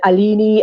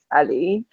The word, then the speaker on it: Aline: I've heard Alini, Aline, Aleni, all sorts of things, but it's Aline.